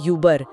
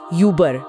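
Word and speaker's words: über: बजा रहे हो मतलब होठ गोल करके ई की आवाज निकालनी है सही पकड़ा जैसे ऊपर के लिए शब्द है युबर जिसे बोलेंगे युबर युबर ठीक है और वो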